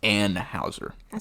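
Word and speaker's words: Anheuser: e r uh so it's Anne Houser shout out to Miss Anne Houser some an out there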